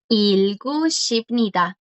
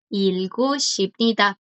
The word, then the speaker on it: 읽으십니다: 읽으십니다. Viste que la G aquí continúa. 읽으십니다, porque le sigue una vocal. Entonces ya ahí puede sonar.